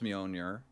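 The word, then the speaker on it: Mjölnir: the audiobook is just the way he pronounces mjolnir yeah because he keeps trying to say the j yeah that's what the that's what the girl in um the thor films calls me owner jonathan okay yeah that's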